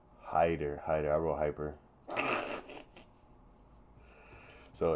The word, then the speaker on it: Haider: featherweight bout we got was it hyper it's hyper right say his name Hider Hider I wrote hyper so ignore the fact